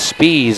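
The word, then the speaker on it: Spies: two checking in will be jc spees s-p-i-e-s speeds is how it's pronounced in fact the whole fredericksburg roster had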